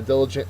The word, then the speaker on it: diligent: diligent is next uh diligent is an adjective it means hardworking uh the first syllable is accented uh so this little